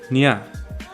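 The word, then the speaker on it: ञ: although it's technically yeah usually if people come across it they just pronounce it like 'no as in nut now we get to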